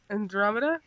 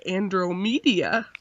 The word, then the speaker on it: Andromeda: pronounce it hold on Andromeda yeah for some reason I was like Andrew media yeah let me know